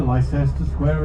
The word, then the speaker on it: Leicester Square: English place names, especially in London, with weird pronunciations which don't correspond to the spelling. Berkeley Square is Berkeley Square, Leicester Square is Leicester Square, St Olav Street is Tooley